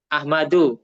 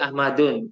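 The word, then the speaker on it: أحمد: Ahmadu, nggak boleh Ahmadun karena isim ghairu musoref ya.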